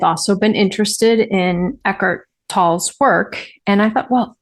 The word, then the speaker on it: Tolle: I've always thought it was Eckart Tolle, but I looked it up because it's a German name and it's pronounced Tolle.